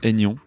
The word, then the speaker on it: Aignan: Comme ça se prononce. Bon. Aignan. Nian.